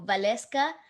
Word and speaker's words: Waleska: Vale, because my name is with W, so but it's pronounced with a V sound, so Waleska.